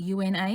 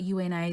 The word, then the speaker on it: Una: You pronounce it O-O-N-A, but hers is spelled U-N-A. Most people, when it's spelled U-N-A, they pronounce it as Una, but hers is Una.